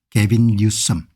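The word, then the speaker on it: Gavin Newsom: 여기 이제 보시면은 이 양반이 이제 가본너 개빈, 이 발음을 뉴섬이라고 하겠네요. 개빈 뉴섬.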